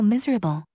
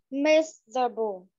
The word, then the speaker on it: miserable: He's so miserable. Yeah, miserable. Từ này có 3 âm tiết thôi, đọc lại cho mình ạ. Miserable. Từ này rất là dài nhá. Không đọc là miserable đâu ạ.